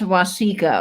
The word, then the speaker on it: Waseca: fantastic Graphics let's see Waseca Minnesota okay thank you for helping me pronounce that yes yes wasika okay thank you Vinnie I I mispronounced that completely which is very possible